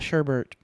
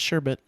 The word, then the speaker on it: sherbet: bets guys you know there's no r in sherbet sherbert no it's not google sherbert ryan sherbert it's not sherbert is it really yeah it's sherbet google it and everyone